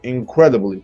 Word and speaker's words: incredibly: incredibly perfectly politely unhealthily so most of them are stressed on the first syllable but which three adverbs are not stressed on the first syllable of course incredibly politely and unhealthy easy right you and